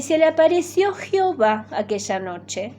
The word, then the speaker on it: Jehová: Así la E es como que es una EA y suave, Jehová.